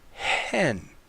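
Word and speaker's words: ἕν: pronounced as n but look at the breathing mark above the second word here the word hen this is the number that Greek number one hen and it's pronounced differently than the you have here the preposition n which is in it's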